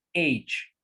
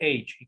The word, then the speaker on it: age: pronuncia como una si la letra g se pronuncia como un h entonces procesos como sería la correcta pronunciación age age age cuadrante en